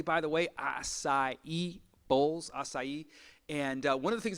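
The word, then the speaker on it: açaí: say it correctly by the way acai bowls acai and one of the things that we want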